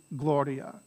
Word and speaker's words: gloria: ajimus so it's ajimus is it gloria or gloria right and it's gloria so the accent will tell you is always going to be the penultimate or anti-penultimate syllable when you have three or more syllables the h so very